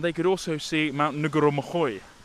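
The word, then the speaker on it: Ngauruhoe: could also see Mount Ngurumohoe, which is how you say what I was saying, Ngurumohoe, yeah, which is Mount Doom, and I couldn't even see that.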